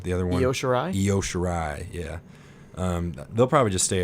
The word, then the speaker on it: Io Shirai: I never know how to pronounce that other girl's name. What's her name? The other one? Io Shirai? Io Shirai, yeah.